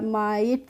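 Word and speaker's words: might: जब भी किसी वर्ड में IGST एक साथ आते हैं तो उसका हम प्रोनाउंसिएशन करते हैं। क्या करते हैं? आइट करके करते हैं, ठीक है।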